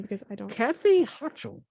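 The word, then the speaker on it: Hochul: of new york's name because i don't cathy hutchell hachel thank you so governor kathy hatchell said she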